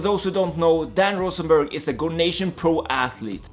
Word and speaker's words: Rosenberg: Oh, you say it like a German. Okay, how do you say it in Israel? In Israel, it will just be Dan Rosenberg. So the R is a lot less aggressive and it's just not a German accent.